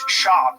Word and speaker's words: Schaub: Where's Brendan Schwab from? It's Schaub. You have to say his name.